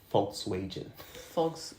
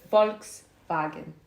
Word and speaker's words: Volkswagen: it and the Volkswagen the English people call them like Fox wages let me tell you guys folks that's how you say it's proper folks folks folks wagon that's peoples car vehicle